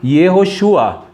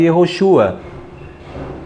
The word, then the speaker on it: Yehoshua: Aqui, olha, Yehoshua. pronunciado Yehoshua.